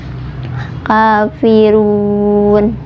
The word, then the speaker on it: Kafirun: Mad tabi'inya di ru, ada domah bertemu dengan wawu sukun. Kemudian huruf yang disukunkannya yaitu huruf nun. Dibacanya boleh 2, boleh 4, boleh 6 harokat asal konsisten ya dari awal sampai akhir. Kafirun, seperti itu.